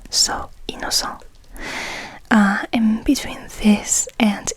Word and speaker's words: Innocent: the inocent rou because technically this would be pronounced the French way so inoco uh and between this